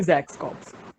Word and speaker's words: XAXs Corps: common name so uh the pronunciation will be zach's cops oh so very interesting